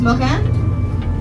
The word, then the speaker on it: moraine: now marine is a fancy fancy french word pronounced mojan we all know french is the language of